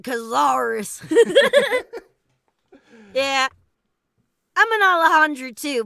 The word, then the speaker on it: Cazares: Yeah, is it Cazares or Cazares? Here in America, we call it Cazares.